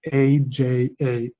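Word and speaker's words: अज: Because in Sanskrit, the meaning of a word isn't just about what it is, it's about how it's pronounced. So the word Aja in Sanskrit, A-J-A, Aja, can mean a goat.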